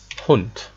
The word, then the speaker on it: Hund: For example, Hund. Hund. You can see it's written with D, but pronounced as Hund.